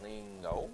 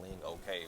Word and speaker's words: Lingo: was just like lean only one girl got it right she said lingo and then i'm like yeah that's cool and then how was they pronouncing it before they were saying okay like that was the okay emoji yeah they were tripping hard but they were saying link okay but it was so